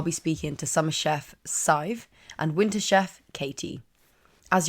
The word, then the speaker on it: Sadhbh: Sadhbh rhymes with 5.